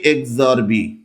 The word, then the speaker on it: XOR: তাহলে এটাকে আমি কিভাবে উচ্চারণ করব বা কিভাবে আমি পড়বো? পড়বো হচ্ছে এ এক্সরবি। ঠিক এভাবে এ এক্সরবি আই ক্যান সে এক্সরবি এক্সরবি এবার এটার সত্যক সারণী চল